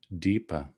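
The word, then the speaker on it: dīpa: term it's smoothed out so dvipa becomes deeper but there's another sanskrit word which means lamp which is also deepa and so we're sort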